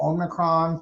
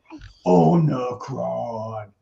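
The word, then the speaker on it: Omicron: you know this whole omnicron thing actually let me pronounce that again the right way onocron is apparently spreading it's spreading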